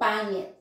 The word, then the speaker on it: pangit: first, pa, and then you need to produce the sound of ng, mm, and then int is it, ngit, pangit. I know for non-Filipinos you will say pangit, but you don't pronounce the g here because ng is one character, so it's a ng, so pangit, maganda, pangit.